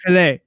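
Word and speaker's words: Pelè: Pele. Oh, I mispronounced it. No, I saw the accent and I messed it up. Yeah, it's cool. Dr. Pele.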